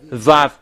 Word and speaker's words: Vav: Pronunciations it's equal W, that it's V. Yod Hey Vav has its YHVH.